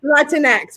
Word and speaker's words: Latinx: Latinx, very good.